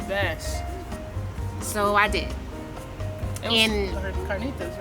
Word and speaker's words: carnitas: And carnitas, right? I got carnitas. You have to say it like that. Carnitas.